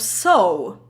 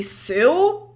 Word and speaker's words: sew: language uh yeah so the strangest pronunciation for me is a very simple word of soul because you spell it s-e-w and i was really surprised that it's actually so how the hell is that so it doesn't make sense it should be sue or like anything but so it's it's i